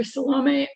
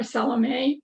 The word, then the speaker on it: Salomé: By the way, we can call her Salomé or Salomé with an accent on the E. Salomé, the French. I tend to call her Salomé, but you can call her either.